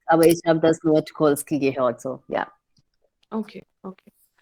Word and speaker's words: Tucholsky: Also ist meine Aussprache korrekt? Tucholsky.